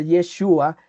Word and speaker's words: Yeshua: El nombre de Jesús, que según pues los estudiosos se pronuncia Yeshua, significa el Dios que salva.